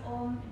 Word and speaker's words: Om: We're going to chant the sound OM just three times. And if you chant the sound OM, do pay attention to this last syllable as well, the sound M. Make it more than 1 second.